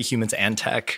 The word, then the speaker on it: Humans X Tech: I say humans and tech.